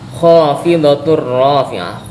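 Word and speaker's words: خافضة رافعة: Nah, tulisannya khofidatun. Tapi karena dia bertemu dengan ro, maka cara membacanya adalah dimasukkan. Kemudian tanpa didengungkan karena ini adalah tanwin berupa dhamah tain bertemu dengan huruf ro maka hukum bacaannya adalah idgham bila ghunah. Kho ini adalah mad thabiin. Jadi membacanya khofidatur rofi'ah.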